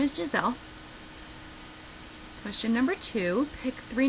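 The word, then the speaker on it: Gizele: would usually think it's not spelled g g-i-s-e-l-l-e it's spelled g-i-z-e-l-e so my middle name is gisele question number two pick three names off the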